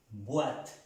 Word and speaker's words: boîte: Boîte, no vous. Boîte, no, boîte. Pronunciando bien la letra B.